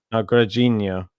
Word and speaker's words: Grigor: No, I think it's Grigor. Oh, Grigor. No, okay. Gajinho. Okay. Good pronunciation.